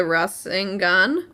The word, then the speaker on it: Rasengan: Episode 94, Attack Fury of the Rasengan.